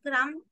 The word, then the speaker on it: crumb: So crumb is B, having B as silent, but crumble has the sound of letter B.